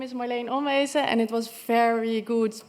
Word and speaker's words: Marleen Onwezen: Indeed, my name is Marleen Onwezen, and it was very good pronounced.